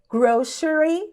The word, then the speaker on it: grocery: A gente diz em inglês americano grocery store. A outra pronúncia possível também pode ser grocery. Grocery store. Ambas estão corretas, tá? Então você pode falar grocery, que é como eu digo, por exemplo, ou então grocery.